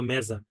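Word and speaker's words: mesa: আপনার পর্তুগিজে বলা হচ্ছে মেজা জ এর মত উচ্চারণ হচ্ছে মেজা ঠিক আছে বাট মেসা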